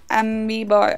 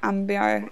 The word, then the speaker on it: Amiibo: It's Amiibo. Oh, yeah, I need to remember that. Ambio, Amiibo.